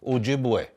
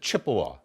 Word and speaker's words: Ojibwe: some of the tribes Ojibwe okay some people pronounce it Chippewa Odawa some people say